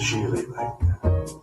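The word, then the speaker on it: Gigli: Yeah, it's pronounced Geely, rhymes with really.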